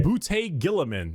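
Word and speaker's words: Roboute Guilliman: Rabute Gilliman.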